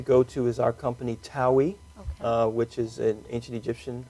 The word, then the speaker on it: Taui: main website to go to is our company Taui, which is an ancient Egyptian word. It means the two lands, and it's spelled T-A-U-I.